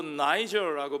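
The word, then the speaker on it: Niger: 니게르라 하는 시므온, 이 니게르라고 되어 있는데 이거 사실은 그냥 까놓고 얘기하면 미국에서 발음하기 좀 불편한 단어입니다. 요거 여러분 어디 가서 쉽게 함부로 사용하시면 안 돼요. 이게 무슨 뜻이냐? 니게르, 영어로 나이저라고 발음하는데 오늘날 현대 영어에서 나이저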